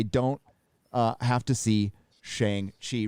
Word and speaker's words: Shang-Chi: extra since I don't uh have to see Shang Chi rhymes with t thank you that is awesome thank